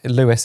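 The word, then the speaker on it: Leodhais: Um, and his name is spelled L E O D H A I S. But yeah, huge shout out to Lewis.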